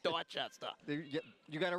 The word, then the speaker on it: Dorchester: I can't call it Dorchester. It's Dorchester.